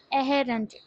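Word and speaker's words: errand: इसकी प्रोनाउंसिएशन क्या है? अहेरेंट अहेरेंट।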